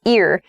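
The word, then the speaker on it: ir-: the next prefix is ear ear so the pronunciation is ear even though it's ir ear for example we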